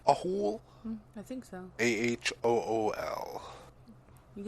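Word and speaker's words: Ahool: anyway well this is a fun one to pronounce a hole a hole i think so a-h-o-o-l you literally said at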